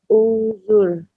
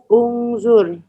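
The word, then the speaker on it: انظر: Nah, gimana bacanya? Unzur. Bagaimana bacanya, Bu Sri? Unzur. Ya, kenapa Bu Sri bisa tebak barisnya unzur? Sedangkan tadi kalau isim dia fathah, gimana rumusnya? Kenapa Bu Sri berani bilangnya unzur? Baris alifnya kok dhammah?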